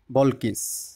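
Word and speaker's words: Balkis: never a queen like বল কিস এখানে ইংরেজিতে বল কিস উচ্চারণ হবে আর বাংলা হচ্ছে রানী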